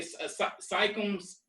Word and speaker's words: Siakam: Pascal, how you say Siakams? Yeah. Siakam. Yeah, Siakam. Sorry I butchered your name, bro.